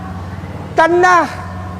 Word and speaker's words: Tanakh: Dibacanya Tanakh. Tanakh.